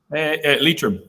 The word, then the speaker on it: Leitrim: Leitrim, yeah, in Ireland.